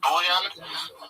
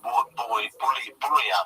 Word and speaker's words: Bouillon: man called Godfrey of Bouillon. I think that's how you pronounce it. It's with 2 L's in English, but I think in French it's Bouillon. I think you swallow the L's. Bouillon.